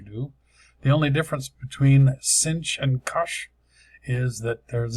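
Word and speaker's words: sinh: easy that's a cinch depends upon on what country you're from how you might um pronounce this the I guess in England they call this shine I'm not sure why they move the H over here but and cinch doesn't make a whole lot of sense with the CH but that's what we usually call it here depends upon where you're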